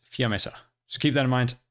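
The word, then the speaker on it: Fiammetta: saying the new sixth star operator's name is flametta it's not with an l it's with an i i've only noticed this as i've been editing the video so the pronunciation should be fiometer vr is italian for flame it's a fear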